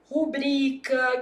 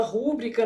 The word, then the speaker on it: rubrica: Por exemplo, rubrica que o povo fala rúbrica, né? Ah, não existe rúbrica não.